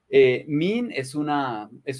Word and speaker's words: mean: Mean se pronuncia con la E larga del inglés y ese es un sonido como nuestra I más extendida. Mean. Como si fueran dos o tres I's seguidas.